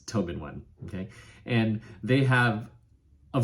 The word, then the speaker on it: TobenONE: out to them to to ask how to pronounce their name but it's Tobin one okay and they have a variety of products